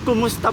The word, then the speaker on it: kumusta: people keep on saying ka kumusta po. It's wrong. Kamas- It's actually ku. Ku. Kumusta.